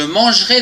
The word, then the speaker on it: mangerai: Demain, je mangerai des frites. Attention, ici, il y a un E après le G, on ne le prononce pas.